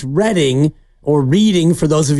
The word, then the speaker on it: Reading: calling it the wrong how do they spell Reading California do you know 2D correct cuz that's how you pronounce reading okay out in Pennsylvania when you have re e a d i n g that is what we all learn to do in Monopoly reading I